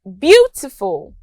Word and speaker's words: beautiful: Also, we have beautiful. The stress is on beau.